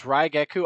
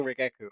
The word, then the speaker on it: Raigeku: Yeah, it's Raigeku. I'm saying Rigeku. I know it's Raigeku.